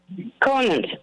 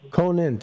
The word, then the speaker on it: Conant: How do you say that name? Conant. Conant with a T.